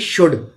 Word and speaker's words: should: और SHOULD शुड, इसको शुल्ड नहीं पढ़ेंगे, इसमें L साइलेंट रहता है, टॉक में L साइलेंट रहता है।